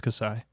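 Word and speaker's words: Kassai: i'm really excited for is it is it pronounced kasai does anybody know cassay yeah because i i am i definitely have no idea but it's kasai if you you said it confidence i'm going to believe yeah i'm super excited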